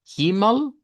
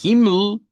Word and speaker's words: Himmel: En ese caso, pues, es muy común que se omita el sonido de esa e, ¿verdad? Que se eh vuelva muda, digamos, no se pronuncie. Pero también podemos pronunciarla como una schwa. Himmel, con la schwa, y Himmel, Himmel, eh ml, ml, ml, de un solo.